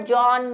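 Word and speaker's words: Johann: Normally हम बोलते जॉन ही है, जॉन की स्पेलिंग में भी ह एच होता है, लेकिन बोलते हम जॉन है, लेकिन वही हिंदी ट्रांसलेशन का थोड़ा सा प्रॉब्लम, ठीक है।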